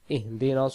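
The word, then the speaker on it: اهدنا: নাস্তাাইন তারপরে ইহদি ইহদি আমরা যদি বলি ইহিদি নাস সিরাতাল মুস্তাকিম তাহলে এখানে সিরাতাল নাই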